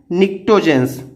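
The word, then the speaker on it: pnictogens: अच्छा, नाइट्रोजन family को और क्या बोलते हैं, तो इसको बोलते हैं निक्टोजेंस, PNICOTGEN, निक्टोजेंस।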